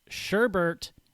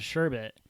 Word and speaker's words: sherbet: of desserts or sweets sherbert is a variant spelling of the word sherbet it's often considered a mistake but how have i